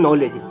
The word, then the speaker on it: knowledge: silent आवाज़ आती है जैसे नॉलेज में के नॉलेज लिखा लेकिन पढ़ते हैं नॉलेज और बहुत सारे ऐसे